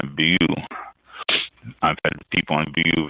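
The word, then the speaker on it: Beaulieu: my tongue away bu Vineyard there I go bu Vineyard b euu b a u l i e u bu and that's how it's pronounced the L bu I've had people on bu Vineyard that tell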